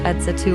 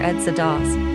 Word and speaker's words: EDSA Dos: The Second EDSA Revolution, also known as the Second People Power Revolution, EDSA 2001, or EDSA 2 pronounced EDSA 2 or EDSA DOS, was a political protest